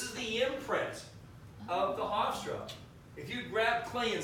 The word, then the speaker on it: Hofstra: Which really sucks if you went to Hofstra University in the northeast of the United States. There's actually a university called Hystra. That's H-O-F. Yeah, but it's pronounced Hofstra.